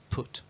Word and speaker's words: put: que tiene el inglés fijaos ese parece a este y sin embargo este se pronuncia Cat y este se pronuncia put o por ejemplo estos